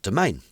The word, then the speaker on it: Demesne: like using the unit domain pikeman it's the the name of this unit looks like demesne that word is pronounced domain this is a good